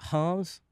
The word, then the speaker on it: Reims: In Ligue this weekend, PSG will host Reims. Okay. Are you sure that's how you pronounce it?